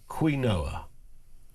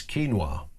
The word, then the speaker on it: quinoa: Surely it should be pronounced quinua. But somehow it's keenwa. Sorry, I should have said keenwa.